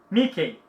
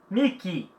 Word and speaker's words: Mickey: Umas pessoas pronunciam aqui no Brasil Mickey. Não, Mickey. Mickey. Também não é money. Dinheiro. Não é dinheiro, não é money. Money. Money. Então, que. Palavras com EY, som de I.